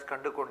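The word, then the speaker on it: Kandukondain: Kandu Kandai and Kandu Kand is actually pronounced as Kandu Kund.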